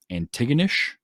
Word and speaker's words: Antigonish: of the movie, which is a poem called Antigonish, I believe is how it's pronounced.